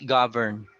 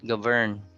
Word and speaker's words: govern: Even though it's a verb, the stress is on the first syllable, which is very rare. It's govern. It's not govern.